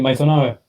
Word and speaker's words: Maisonave: ¿Cómo se dice tu apellido? Sí, Maisonave.